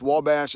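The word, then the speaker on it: Ouabache: the wabash uh state park in indiana it's pronounced wabash it's spelled wubachi o-u-b-a-c-h-e i think it's the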